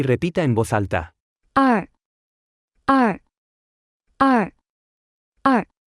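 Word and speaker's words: 二: repita en voz alta ar ar ar ar ar ar ar se pronuncia con el cuarto tono tres escuche y repita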